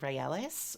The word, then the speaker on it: Raelis: And her sanctuary is Mount Raelis, which is just Israel with the syllables switched around. There's a plant that grows